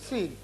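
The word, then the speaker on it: سين: পড়বো তিনটা আলে ফোটা নাই তার নাম হলো সিন তিন আলে নাই ফোটা তার নাম সিন তার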